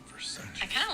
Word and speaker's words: Versace: Like Versace is pronounced Versace, but it's spelled Versace. But it's Italian, so you pronounce it Versace.